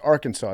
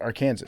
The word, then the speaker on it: Arkansas: Kansas is pronounced Kansas and then Arkansas is pronounced Arkansas not AR Kanas because they're both uh they're different tribes got